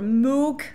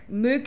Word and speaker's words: Moog: um oh yeah dr robert moog mook wherever you want to pronounce it came over and did